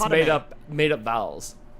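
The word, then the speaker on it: Padmé: Because Because I don't think it's Padme. It's Padme. There's Padme? There's nothing between the D and the M. There How is would it it. be It's Padme?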